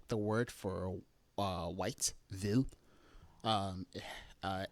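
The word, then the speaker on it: hvid: So there's a few words like this um like the word for uh white vil um uh h vv i d uh vil uh the h is not pronounced and the same thing here with voran and also uh vor uh vafor and vonoa.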